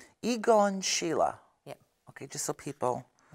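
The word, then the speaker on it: Egon Schiele: have had from him I know now you're pronouncing his name as igon Sheila igon Sheila yeah cuz say igon Sheila yeah okay just so people you know um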